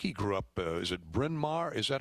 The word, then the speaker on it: Bryn Mawr: uh i think he grew up is it bryn mawr is that how you pronounce that friend yeah yeah pennsylvania and uh